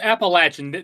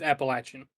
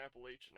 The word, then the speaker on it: Appalachian: No, it's Appalachin. There there is an incorrect pronunciation. The only correct way to say it is Appalachin. Appalachian Mountain Wrestling. Appalachin. I'm pretty sure they said Appalachian at the show.